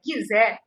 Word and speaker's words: Gizé: Aí na cidade de Gizé, que na realidade a pronúncia é Gizé, o que vai acontecer?